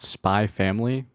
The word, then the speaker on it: Spy x Family: Welcome back to Anime Corner, and today I'm going to shout out Spy Family, which is spelled Spy X Family, the same as Hunter x Hunter.